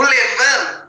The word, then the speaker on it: levain: que se chama Levan o Levan vem da palavra é uma palavra francesa se escreve levain tá Levan que a gente fala ele é